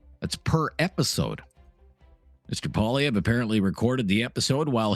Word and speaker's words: Poilievre: Poilievre? Yeah, well, it's French, so it's well, I don't think he's French, but the name's French. Pierre Poilievre. Poilievre. Sort of a weird R, silent R.